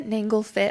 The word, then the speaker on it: Nanglefit: Yeah, you can find me My last name is a little hard to pronounce, but Nanglefit.